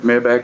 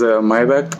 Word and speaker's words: Maybach: You can also call it Maybach, but actual pronunciation is Maybach.